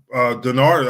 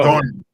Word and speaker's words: Darnold: Denard.